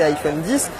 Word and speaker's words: iPhone X: Autre nouveauté de cet iPhone X, à prononcer iPhone 10, c'est ce double capteur photo.